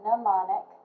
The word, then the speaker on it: mnemonic: a little bit confusing it's called mnemonic the m is silent activate prior knowledge task